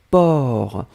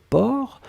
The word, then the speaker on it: porc: Alors souvenez-vous que porc, on ne prononce pas le C final. D'accord? Mais on doit quand même l'écrire. Donc vous écrivez P-O-R-C. D'accord? Donc porc, P-O-R-C, le C final n'est pas prononcé.